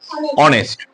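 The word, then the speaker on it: honest: যদি আমরা ওইভাবে দেখি এইচর উচ্চারণ কি হবে কিন্তু আমরা তো হনেস্ট বলি আমরা কি বলি অনেস্ট বলি তাহলে এই যে আমরা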